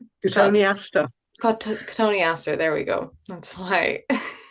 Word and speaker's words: Cotoneaster: From Michelle, any advice for dealing with I can never say this, I forget how to pronounce it. Cotton Easter. Cotoneaster. Cotoneaster, there we go.